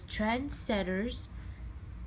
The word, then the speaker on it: Trendsetters: you want to call it Trensetters, not senders, not Trensetters. And I accidentally even call it transgenders a couple times, because it's just that word that seems like you can confuse easily or just say it wrong.